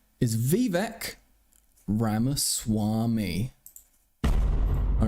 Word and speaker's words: Vivek: It's pronounced Vivek. That's true, actually. It's pronounced Vivek.